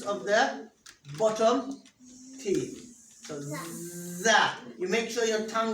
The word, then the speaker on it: ز: So it sounds like Z in zebra. And how is the Z pronounced? Is the tip of the tongue touches the roots of the bottom teeth. So za.